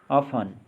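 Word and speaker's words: often: ऑफन, प्राय। सॉफन, कोमल करना। अब देखेंगे यू साइलेंट वाले वर्ड्स।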